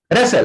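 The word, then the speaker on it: wrestle: तो रैपर नहीं बोलते हैं, रैपर। रेसल, रेसल होता है कुश्ती लड़ना। तो यहां पे डब्ल्यू साइलेंट रहता है, रेसल बोला जाता है, आर से बोला जाएगा।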